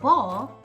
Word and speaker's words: ball: great you remembered that the a in ball sounds like a short o it says all do you see it